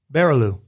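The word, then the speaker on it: Barrilleaux: B A R R I L L E A U X. Easy peasy. Barilo. What, say it again? Barilo. That's right. You said it right the second time.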